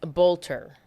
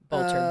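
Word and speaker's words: Boelter: Is Boeing like B O E I N G for No. No, it's not. Oh, it's like I can't remember how to say it, but it it's uh Vance Bolter. Bolter. B O E L T E R.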